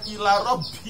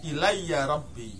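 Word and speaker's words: إليّ ربي: Kayaknya ila Rabbi itu kayaknya. Ilayya itu bacanya bukan ila Rabbi, tapi ilayya Rabbi.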